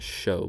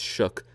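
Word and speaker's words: Shough: they bring in Tyler Shook. It's weird that that's how you pronounce it and not show, but it's Shook from Louisville.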